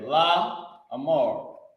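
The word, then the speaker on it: לאמר: which is up there La Amar laar this is how you pronounce it La MO laar so the word laar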